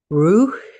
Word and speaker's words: ruach: The Hebrew word Rosh, Ruach, pronounced Ruch, ROO-AKH, concisely and precisely describes how the spirit of air makes itself known to us.